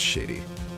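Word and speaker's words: Shadi: some renown shady smith i think it's supposed to be pronounced shady because that's the pun right a victim in this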